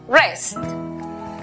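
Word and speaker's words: wrest: La W antes de R al comienzo es muda. Por lo tanto, la pronunciación para la palabra arrebatar es rest.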